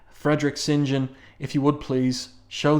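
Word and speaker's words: St. John: Pyro's first name there and that's how you pronounce it by the way not St John but singen Frederick singen if you would please show these welps what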